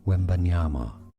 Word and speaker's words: Wembanyama: It as Victor Wembanyama. Victor Wembanyama. Therefore, in English, it is said as Victor Wembanyama.